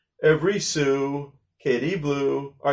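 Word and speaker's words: sou: So we say sue.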